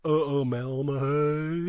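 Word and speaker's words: Uumellmahaye: Anna Umelmahay. Yeah, but you must do like the little W, the Umelmahay.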